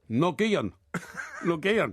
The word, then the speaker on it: Nguyen: Nguyen. Nguyen. No. Is it N-Y-U-G-E-N? N-G-U-Y-E-n. Yeah. Nguyen. Nguyen, I think it is. Nguyen. Yeah. And so... And it's it's pronounced win, I'm told.